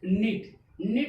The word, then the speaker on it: knit: KNIT, K के बाद N आया, N के बाद वॉवेल्स आया I। ठीक, तो K क्या हो गया साइलेंट हो गया K साइलेंट हो गया तो कितना बचा निट। क्या हो गया NIT निट,